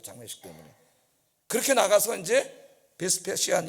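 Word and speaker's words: Vespasian: 그때 로마 장군이 베시파시아누스, 영어 발음으로는 베스페시안 이런 사람인데, 나가서 나갈 길이 없잖아.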